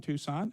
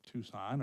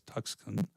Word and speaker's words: Tucson: have never been to Tucson are still pronouncing it as tuxen and they understand they think it's brown all the time.